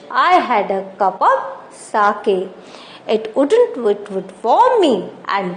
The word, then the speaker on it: sake: Sake, a popular Japanese drink. Sa is pronounced like a fa in father and K rhymes with way.